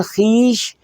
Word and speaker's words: خیش: جی خویش کا مطلب جو ہے وہ رشتہ دار ہے، اس کا تلفظ جو ہے وہ خیش ہے. اور پھر خیش بغیر واو کے بھی لکھا جاتا ہے، خے یہ اور شین خیش.